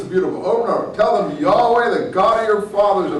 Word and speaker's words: Yahweh: But I think it was actually ultimately pronounced Yahoo.